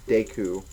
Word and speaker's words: Deku: specific names and words people actually say that uh deu is actually pronounced Deku which I guess makes sense but I prefer deu it's easier to say and now we have